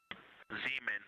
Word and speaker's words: Zeeman: Zeeman. Okay, and can you say the first letter? I may be pronouncing that wrong. What's the first letter of that word? Zulu. It's Z-E-E-M-A-N.